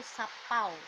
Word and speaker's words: sapau: Nah, seperti itu ya, tulisannya sapawe. Nah, tapi kita membacanya itu sapau ya.